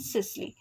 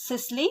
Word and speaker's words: systole: The word T remains silent and it is pronounced as diastole and systole.